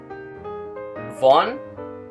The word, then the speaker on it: вонь: The difference between palatalized consonants and non-palatalized consonants is very important in Russian. Von, von. Boris, Boris.